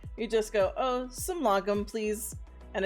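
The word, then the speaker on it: lagom: i was able to look up the swedish pronunciation yes uh lagum um yeah so i'm really pleased to know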